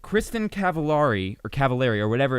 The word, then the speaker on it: Cavallari: Rhymes with calamari. That's true. Telemari. It's Kristen Cavallari.